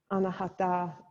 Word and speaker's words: anahata: of the chakra system chakra anahata is the correct pronunciation and it is about